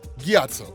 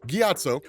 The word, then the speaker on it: Gyatso: monks, primarily a monk named, how do you pronounce that name? Right. Gyatso.